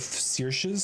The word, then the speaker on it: Seir: And if you master one of Seir's skills, uh, and that is how that name is pronounced, by the way.